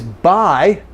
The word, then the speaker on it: buy: The U here, however, is useful in a way, because we have three different words with the same pronunciation, buy.